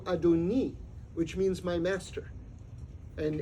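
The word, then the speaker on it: אֲדוֹנִי: we inhabit in fact the exact same spelling of that word would be pronounced in modern Hebrew adoni which means my master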